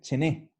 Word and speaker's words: ce n'è: Ah, Y se pronuncia cargando en la segunda E, chené.